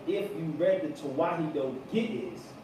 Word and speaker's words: Ge'ez: And I'm going to spell it for y'all. It's Ge'ez.